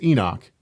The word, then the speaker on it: Enoch: And you say, "Well, it's Enoch. You know, it's the Hebrew for Enoch.